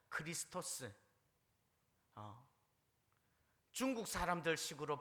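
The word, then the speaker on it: Χριστός: 다는 거죠 그리스도 5 영어 식으로 발음하면 크라이 스 토 스크 라이터 크라이스트 크라이스트 헬라 로 발음 하면요 크리스토스 중국 사람들 식으로 발음하면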